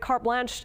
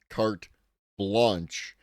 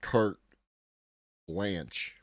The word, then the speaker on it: carte blanche: If you're going to use phrases like carte blanche, then you should learn to pronounce them, not carte blanche.